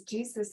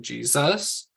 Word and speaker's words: Jesus: the end what about the name Jesus because Jesus is sort of a stress at the beginning would we put a